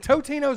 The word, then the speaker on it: Totino's: I've always called it Tostinos. I have too. This may be one of those Mandela effects. No, as well. It's a Mandela. AK. It's the Mandalorian. I think effect. It's Totinos. Saying it wrong.